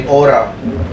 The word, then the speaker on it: hora: scientists like you here in Spanish people say hora time or the conclusion of Christmas removal aura